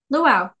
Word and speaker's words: Luau: her son luau l-u-ai how do you say that cool yeah luau I'm gonna ask like a Hawaiian like the dance unless she's gonna speak